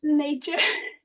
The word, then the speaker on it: Neetje: Neetje. N-E-E-T. I don't know how to spell in English. Yeah, it sounds like nature, but it's not nature.